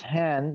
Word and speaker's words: Hahn: this it's also called han echo and this hand this particular hand is erwin han is that how you pronounce spell hun anita no how do you